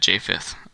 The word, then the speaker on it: Japheth: And to help you pronounce it, it's J5TH, like Japheth, not J4th, J6, but Japheth.